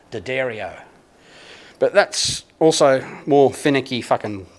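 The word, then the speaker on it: D'Addario: on their website that tells you that it's pronounced Daddario but that's also more finicky that wankers care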